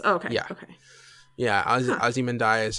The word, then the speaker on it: Ozymandias: I actually think there was an episode in the last season of Breaking Bad, and I think Vince Gilligan pronounced it Ozymandias. If Vince Gilligan did, I'm willing to accept that as gospel. That's cool. But everyone else says Ozymandias because that rolls off the tongue better.